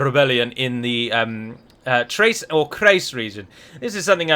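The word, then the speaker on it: Chrace: I've seen many people pronounce this province as Trace, which is how I would also pronounce it, because a hard CH at the start of the word is very rare in almost all languages that I'm aware of.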